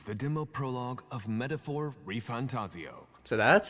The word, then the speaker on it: ReFantazio: epic here Begins the demo prologue of metaphor reantaso so that's how you pronounce it what we have to offer you